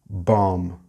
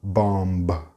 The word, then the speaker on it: bomb: Here we have another silent letter, bomb. The B at the end is silent. It's not bomb.